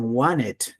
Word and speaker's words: wanted: Vamos, aquí hay una novedad, mire, wanted, por lo general los americanos le dicen wanted, no pronuncian la T, entonces muy importante, I wanted a new phone, I wanted, la T no le van a pronunciar, entonces needed, una R suavita, ¿no?